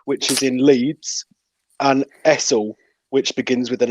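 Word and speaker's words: Hessle: Harrogate, Alsforth, which is in Leeds, and Essel, which begins with an H. It does begin with an H, yeah, but it's pronounced Ezel.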